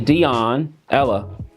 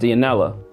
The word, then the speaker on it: Dionela: I want to say Dionela, but it's pronounced Dionela.